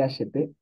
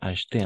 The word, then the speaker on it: acheté: Y atención, no vamos a pronunciar acheté, sino solamente así. Acheté. ¿D'accord? Eso es algo bien importante trabajar un poco la fonética. Oui, acheté. Como si una H y una T. Solo eso.